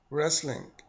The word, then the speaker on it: wrestling: and the last word wrestling very good you have noticed that the W is silent good wrestling as to